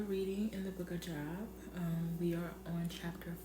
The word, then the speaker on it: Job: we are still reading in the book of Job.